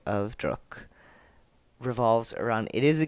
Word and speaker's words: Druck: A DRUCK. I don't actually know how to pronounce it properly, but I'm pretty sure it's not pronounced like truck.